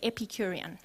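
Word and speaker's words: Epicurean: epicurian philosophers turn to your neighbor and say epicurian just want to make sure you know how to pronounce it so you can drop it at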